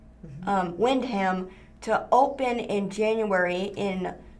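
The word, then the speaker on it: Wyndham: It's Wind, spelled with a Y. Windham to open in January in Northwest Springfield.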